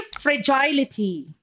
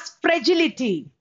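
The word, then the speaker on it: fragility: अब नेक्स्ट देखिए फ्रेजाइलिटी. We also pronounce this word as फ्रेजिलिटी.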